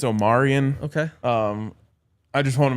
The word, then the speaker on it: Omarion: Both of you guys are saying Omarion. I think it's Omarion.